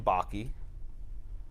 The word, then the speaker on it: Bakke: the units of california-davis Oh baki cuz it's pronounced Bakke yeah okay all right very